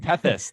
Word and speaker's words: Tethys: I can't, how do you pronounce it? Tethys. Tethys, I think, yeah.